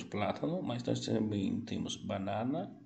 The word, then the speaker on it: banana: Lembrando que, olha a diferença banana. No português, nós utilizamos muito o nariz. Perceba, leia lentamente. Banana. Em espanhol, o som do A é aberto. Então, se diz banana.